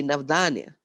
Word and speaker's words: Navdanya: Navdanya, the word basically means 9 seeds, diversity, but pronounced in a slightly different way, Navdanya. Dan is gift in our language.